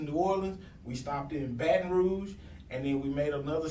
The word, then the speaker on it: Baton Rouge: Either way is acceptable. Proper pronunciation is Baton Rouge.